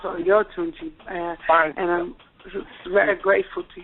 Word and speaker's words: Oyotunji: But it's, and it's Oyotunji. It's pronounced Oyotunji.